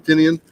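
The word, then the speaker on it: Tynion: And James Tinian or Tinian, nobody pronounces it right think it's except for him. Tinian.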